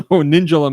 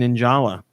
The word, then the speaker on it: Ninjala: me nuts ninjalah well I would say ninja I wouldn't say ninja so ninjalah makes sense but I've been saying in Jolla I've been putting the wrong emphasis on the wrong syllable beautiful and when the